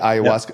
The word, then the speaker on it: ayahuasca: Ayahuasca.